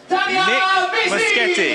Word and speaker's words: Nick Muschetti: I'm going to try and sign out by getting your name right. Here I go. Nick Muschetti. Yes, yes. Thank you, my friend, for being my guest.